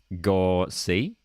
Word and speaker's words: Gauci: Cameron says, so Gauchi's last name, according to Cameron, is pronounced Gorsi.